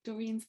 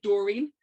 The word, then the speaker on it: Doreen: you walk all of Doreen's places. It's funny as well, Margaret, because I pronounce her name the Belfast way, which is a bit more flat-footed, Doreen, and to you, of course, she's Doreen.